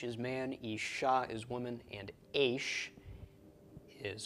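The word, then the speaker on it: אשה: Okay, so aleph, sheen, he, the chiric under the aleph and a comets under the sheen. This is pronounced isha, isha, and isha is a woman.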